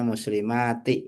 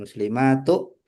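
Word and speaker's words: المسلماتِ: Nah, ini al muslimati sebagai objek maka dibacanya muslimati ya bukan muslimatu.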